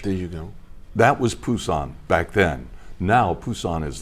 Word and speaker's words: Busan: I say Busan, but it's now pronounced, I guess, Busan, right? Busan, With a B. It used to be P.